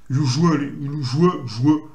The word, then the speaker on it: usually: Usually. Pas penser au mot œil. Là, vous prononcez, ça fait le son joueux. Donc ça fait usually.